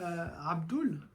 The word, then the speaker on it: Abdul: Selon le nom, on fait oul ou el, selon le nom qui va suivre.